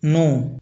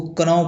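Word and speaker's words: knee: उसी प्रकार नी इसको कन पढ़ेंगे तो अजीब लग रहा है इसलिए अब इसको नी पढ़ते हैं।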